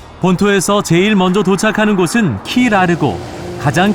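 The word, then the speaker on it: Key Largo: 제일 먼저 도착하는 곳은 키 라르고 가장 큰 섬이다 킬은 섬이라는 뜻의 스페인어 까이 오해 영어식 발음 이라고 한다 으 키 라르고 있는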